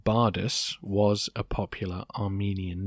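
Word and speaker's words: Bardas: about here the name bardis was a popular Armenian name it can be pronounced with a V so in some texts you see vardas and the similar Banes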